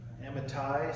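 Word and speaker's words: Amittai: have an idea that pronounce that Emmet a and the TI and the ty Amitai saying arise go to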